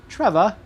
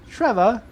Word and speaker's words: Trevor: My name is spelled with an O-R at the end, yet people from other countries like to say Trevor. Trevor.